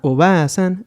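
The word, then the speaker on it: おばあさん: Y bueno, nuestro segundo ejemplo es este, en el cual nos vamos a enfocar a la pronunciación. Primero tendríamos aquí a Oba-san, que es abuela, y acá tendríamos a Oba-san, que es tía.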